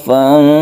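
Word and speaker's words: فانصب: Fansab, panjangkan karena dia itu ikhfa hakiki, itu panjang, membacanya itu berdengung juga.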